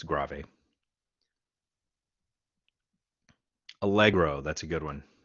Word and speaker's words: grave: grave yeah i know it looks like it should be pronounced grave but it is italian it's gravy allegro that's a good